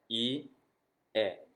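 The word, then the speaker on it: 家: In Japanese, we pronounce this ie. Ie. Okay? And I have to get my tabs to stop moving here. Thank you. Ie. This is kind of up pitch.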